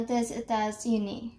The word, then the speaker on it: des États-Unis: So now, je viens des États-Unis. Now, why am I pronouncing it over here as Z? Because there is an S over here and E over here.